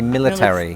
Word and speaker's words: military: Instead of military, I say military.